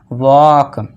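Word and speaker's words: walk: डब्ल्यू ए के तक पढ़ेंगे और एल को भूल जाएंगे तो इसे क्या पढ़ेंगे हम? वॉक।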